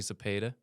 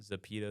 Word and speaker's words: Zepeda: yeah and you know I get a lot of different pronunciations of my last name but I figured when I looked at the like the pronunciation guy I'm like that's pretty self-explanatory yeah no I get zapedo zapato I'm like I need